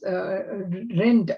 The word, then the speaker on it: Rind: The second half of Scranton memoir deals with his relationship with Riaz Rind. I think it's pronounced Rind, it's R-I-N-D, a wealthy Muslim American investor and financer.